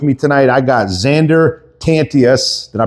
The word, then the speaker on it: Tantius: In studio with me tonight, I got Zander Tantius. Did I pronounce that right? Yeah, Tantius.